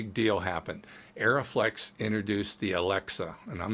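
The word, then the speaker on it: Arriflex: Well, as soon as the Alexa came out from their favorite company, Arri, Aeroflex, and by the way, it's pronounced Aeroflex and Arri.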